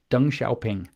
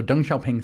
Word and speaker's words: Deng Xiaoping: Deng Xiaoping. Okay, so I've spelled it for you. You can look him up. So Deng Xiaoping theory is the name, or Dungism, or as